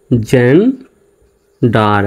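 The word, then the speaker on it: gender: তাহলে এখানে জি ই N gain হবে নাকি জেন হবে? অবশ্যই জেন হবে। জির উচ্চারণ জ্বর মতো, জি ই এন জেন, ডি ই আর ডার। তাহলে উচ্চারণটা হচ্ছে জেন ডার। আমরা এইভাবে একসঙ্গে লিখতে পারি, জেন্ডার।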